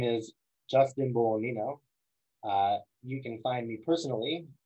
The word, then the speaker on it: Bolognino: And that's my handle, J Bolognino. The G is silent, and that's me.